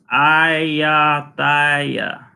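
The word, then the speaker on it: Ayutthaya: Travel TV says, say it like this: Ayatthaya, Ayatthaya, Ayatthaya.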